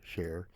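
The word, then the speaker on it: Char: John and Sher spelled c h a r but pronounced like the singer Sher moved into a rental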